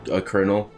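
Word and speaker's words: colonel: I just bring up the word kernel. There's literally no R in that word. What? There's no R in that word, kernel. It's like C-O-L.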